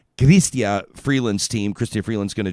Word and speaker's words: Chrystia: including working with uh as they pronounce it gristia freelance team christopher freeland's